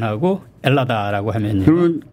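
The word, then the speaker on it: Ελλάδα: 말하자면 헬라스, 헬라도스, 헬라디, 헬라다 이렇게 되는 것이 맨 앞에 H 발음 안 하게 되고 엘라다.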